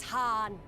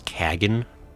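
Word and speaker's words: Khagan: I shall enjoy this Harn. Sadhu, I think you pronounced that incorrect. It's Kagan.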